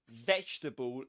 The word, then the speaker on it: vegetable: And the same applies to vegetable. You don't pronounce this letter.